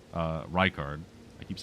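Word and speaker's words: Rykard: Uh, we we've also killed Ricard. Uh, Reichard. I keep saying his name wrong.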